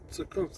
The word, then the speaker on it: Zukunft: Zukunft, like batter up. Batter up. That's how you say the. Zukunft.